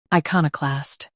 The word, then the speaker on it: iconoclast: US uses ka. UK uses ko. Watch the middle sound.